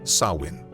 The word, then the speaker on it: Samhain: It was a festival called Samhain. Or at least that's how it appears phonetically to us, but it's actually pronounced Samhain.